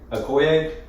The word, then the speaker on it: Okoye: I thought, dang it, the first time we filmed this, I had to look up how to pronounce her name. What was Okoye? Okoye.